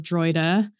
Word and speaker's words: Droida: I have my own band called The Droida, which is spelled D-R-O-I-D-A.